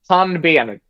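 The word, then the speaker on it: pannben: Panbian.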